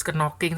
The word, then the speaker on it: knocking: K-nya nggak dibaca ya. Knocking, ya kan?